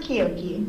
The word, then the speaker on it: Quiogue: - It's fine, it's pronounced Quiogue.